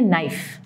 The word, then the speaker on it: knife: Example आप ले सकते हैं नाइफ, यानी के एन आई एफ ई, नाइफ में के साइलेंट है.